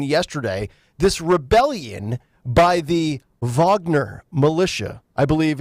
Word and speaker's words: Wagner: this Rebellion by the Vagner militia I believe it's spelled Wagner but pronounced like it's a v instead of a w being perhaps the most